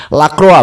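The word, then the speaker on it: Lacroix: Ini permainan yang ditampilkan oleh Crystal Palace ini membingungkan ya dalam 30 menit pertama sehingga pada e menit keempat Lakroak Lakroa bacanya itu Lakroa ya.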